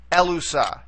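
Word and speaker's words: ἔλυσα: to the beginning so we would accent right here on the very first syllable or the antien alt to get elusa elusa so you see the accent there on the first syllable okay elusa all right next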